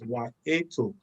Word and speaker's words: Wahito: Wahito or Wahito, as spelled, but it's Wahito, all right? And so, depending on the part of the world you are in, well, you could call it anyhow, but the name is spelled Wahito, but it's pronounced as Wahito.